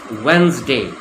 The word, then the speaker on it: Wednesday: The D is silent. It's pronounced as if it's Wednesday.